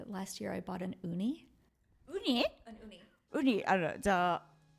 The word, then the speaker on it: Ooni: I just bought, last year I bought an uni. Uni? An uni. Uni, like sushis. No, that is also uni. Okay. But I think in English we would spell that U. This is uni, OONI, okay.